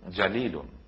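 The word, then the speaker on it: جليل: একেবারে বিপরীত অর্থ এখন আমরা যদি জিমের উচ্চারণ এবং জালের উচ্চারণের পার্থক্যটুকুন না জানি তাহলে আমরা এর জায়গায়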